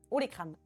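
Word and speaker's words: olécrane: votre ha et crâne, ça s'écrit comme ça, les comme olé en espagnol et crâne comme crâne. Ha les crânes.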